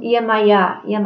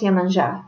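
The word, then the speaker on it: Yemanjá: And as a goddess of the ocean and the daughter of Odudua, the earth goddess, Yemanja, here it's written Yemaya, but I know it's Yemanja. In Brazil, it's how it's said, holds a high position of respect.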